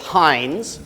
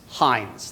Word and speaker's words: Hines: Anderson is H with Hines which you learn it's not hin company it's not Hines Inc it's not it's Hines that's all you say it's Hines uh and it's not spelled with a z that's the ketchup